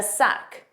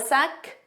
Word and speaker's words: sec: do you have a sec now make sure you pronounce that c it's a k sound at the end suck repeat after me